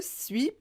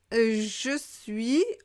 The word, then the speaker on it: suis: Je suis, on va prononcer suis. Suis.